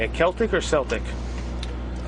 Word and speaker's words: Celtic: is how do you say a Celtic or Celtic I say Celtic okay um how long has